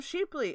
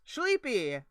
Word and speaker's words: Chleepy: Why can't I I I want to call him Sheeply. It's not his name. It's Shepy. It's Shleepy.